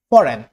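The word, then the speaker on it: foreign: Silent জি, এন, জি এন, জি এইচ এমন ওয়ার্ডের আগে হলে, যেমন sign, sign, no, নো, ফরেন, ফরেন, ফরেন।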